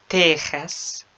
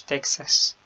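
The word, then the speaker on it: Texas: في بعض الكلمات زي مكسيكو، تيخاس مش تكساس، بالإسبانية تيخاس، وحاكا.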